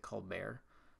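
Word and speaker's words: Colbert: I gotta ask him I'm sure he pronounces it called bear just like uh you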